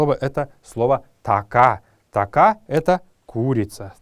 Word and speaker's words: така: Така означает курица. Така — так это слово произносится на калмыцком языке с протяжным произношением последней гласной.